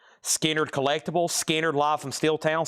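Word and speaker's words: Skynyrd: And then we got uh Skannard pronounced Skard Collectibles, Skard Live from Steeltown, Skard Live Tribute, Skard inards, and Skard Second Halping.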